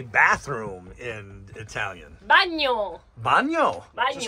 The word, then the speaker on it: bagno: Bagno. Bagno. Bagno. Just like Spanish? No, bagno. It's written differently, but it's this. Yeah, the pronunciation is the same.